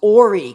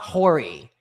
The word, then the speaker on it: Horry: Ory County. It's not Horry. The H is silent.